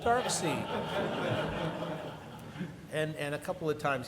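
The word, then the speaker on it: Darkseid: say to me hey where do you pronounce it dark side it's dark see no it's dark side no no Jack pronounced it dark scene and a couple of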